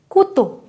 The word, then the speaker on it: couteau: N number of times whenever O-U-U will come, we have to pronounce it like oo only. Toujours. Always. Always, right? Next example is Couteau.